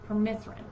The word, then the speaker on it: permethrin: It's permethrin.